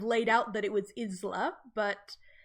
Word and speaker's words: Isla: It is not Isla, it is not Isla, it is Isla.